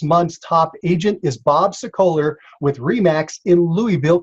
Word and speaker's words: Sokoler: success calls this month's top agent is bob sicoler with re max in louisville kentucky welcome to